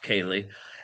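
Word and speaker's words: céilí: um which is spelled completely differently but it's pronounced kayali and it it's a Gaelic word that means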